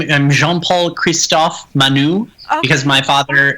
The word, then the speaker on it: Jean Paul: French dance that's beautiful it's spelled je a n so some of my teachers when I was growing up would call me Jean Oh Jean Paul was annoying because that's not my name so I became